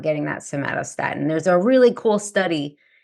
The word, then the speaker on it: somatostatin: I pretend I'm saying the word tomato with an S. So somatostatin, and somatostatin tells your pancreas to produce less insulin when your blood sugar is dropping.